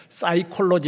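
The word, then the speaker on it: psychology: 사이콜로지 하는 것을 피가 묵음입니다.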